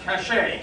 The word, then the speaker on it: Cache: No, it's pronounced Cachet, yes.